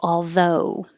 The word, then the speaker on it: although: aldo so oh although think of it as starting more in the uh position with your tongue low in the middle and pull back uh and moving up to an oo where your tongue goes higher in the back and your lips go from unrounded to rounded oh home go although